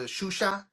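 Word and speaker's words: Xuxa: not the C- sound, it's the sh. That's why if you if you remember that chick that used to have a show back in the day on Spanish channel, Shusha, and it was spelled with an X. That's why it was like that.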